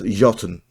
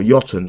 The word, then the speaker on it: Jotunn: and this is y I believe it's pronounced yon or yon sorry it's like a weird nor nor uh name so warlord yon Series